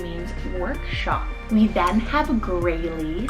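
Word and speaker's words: Graelie: We then have Grayley, spelled G-R-A-E-L-I-E, Grayley.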